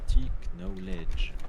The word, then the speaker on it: knowledge: Petit knowledge. Ne prononce pas le K. Petit knowledge. Flop la team.